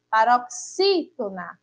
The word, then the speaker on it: paroxítona: E se a gente for falar também, ó, paroxítona, a gente percebe aí que novamente o X e o I, não é? Está aí colocada como a sílaba tônica da palavra.